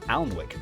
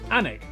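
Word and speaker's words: Alnwick: Then a quick jaunt to Gotham Got followed by a stop in Quernmore Qua before finishing up in Alwick Anig which is near Newcastle or as the people from the city itself say Newcastle.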